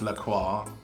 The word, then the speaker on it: La Croix: It's pronounced La Croix.